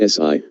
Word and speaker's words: Si: associated with the heart; Si, pronounced like sir with a slow exhale, which is associated with the lungs; Chui, pronounced like Kui